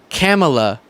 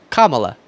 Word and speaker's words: Kamala: first name okay it's Kamala like a comma not a period but a comma La okay just throwout comma